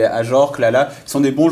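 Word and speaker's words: Ajorque: Voilà, pour parler d'autres joueurs, tu as aussi des Ajorc, parce que je sais pas pourquoi je le prononce toujours Ajorc, mais Ajorc, Lala, qui sont des bons joueurs de Ligue 1 qui vont pas dans des plus gros clubs.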